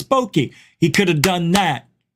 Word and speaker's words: bokeh: debunked oh my God bokeh that's boki how do you say it oh I made a mistake that's right it's boki he could have done